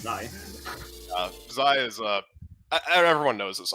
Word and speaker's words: xi: We have White Peak by Zai. That's how it's pronounced, actually. It's Zai.